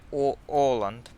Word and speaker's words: Åland: Is it pronounced like Uland, like the islands? Yeah, Is all. is it Åland or Uland? I never knew. It's like Åland.